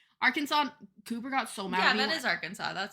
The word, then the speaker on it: Arkansas: state is that isn't AR Kansas next to AR Kansas Arkansas Cooper got so mad at yeah that is